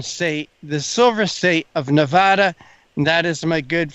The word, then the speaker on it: Nevada: and that comes from there is a way that people from Nevada expect you to pronounce their name it and it is Nevada and it's not Nevada I did receive some